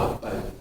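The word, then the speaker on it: אבא: 아빠는 우리에게도 아빠지만 아람어 히브리어로도 아빠입니다.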